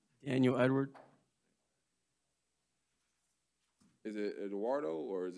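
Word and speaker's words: Edouard: so i'm like oh it's spelled e-d-o-u-a-r-d correct yeah yeah yeah edward it's just spelled in french i'm unfamiliar so thank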